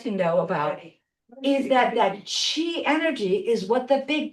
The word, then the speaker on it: qi: The first thing you have to know about is that chi energy is what the big deal is. QI. Who spell it with a Q? It's pronounced chi.